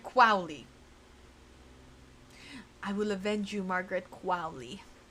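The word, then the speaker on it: Qualley: So, for clarification, I searched up um how to pronounce Margaret Quali's um last name. It's uh Margaret Quowi.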